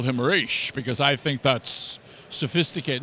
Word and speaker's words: Ra's: I spoke to an Arab kid who was 16 years old at a comic book convention. I said, is there anything in the Arabic languages that would make me want to say Ra's? She says, no, it's Ra's.